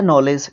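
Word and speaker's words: knowledge: okay उसके बाद है नॉलेज यह भी उसी का नाइफ इसी के एग्जांपल्स है ये के के बाद जब एन आएगा तो वो क्या रहेगा साइलेंट रहेगा के ठीक है उसके बाद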